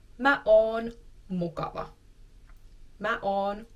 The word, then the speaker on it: mukava: If I would like to describe myself as nice, I can say mä oon mukava. Mä oon mukava.